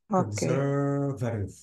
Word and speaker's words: conservative: conservative yeah amazing but try to stress the r yeah and don't stress the a at all okay so it will be conservative conservative exactly thank you